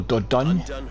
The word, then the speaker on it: Dordogne: Vanguard scouts report she's Dordogne, or Dordogne, if you are to pronounce it in the French way.